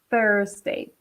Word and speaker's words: Thursday: Okay, so you pronounce the TH in English. Yeah, just like Walter said, the TH in English is pronounced th. Okay, so you use your tongue. You touch your tongue with the tip of your teeth and say Thursday.